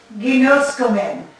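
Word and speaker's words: γινώσκομεν: So, en tuto, in this, ginoskomen. You know, it's coming. You got your omen ending in ginos. Ginoskomen, yeah, it's gonna be a hard G.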